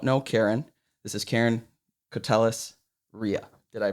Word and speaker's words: Koteles-Riha: you that don't know Karen this is Karen catellis Ria did I pronounce that correctly you sure did yes okay